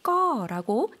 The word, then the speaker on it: ก็: 꺼라고 이성으로 길게 발음을 해주시면 되겠습니다.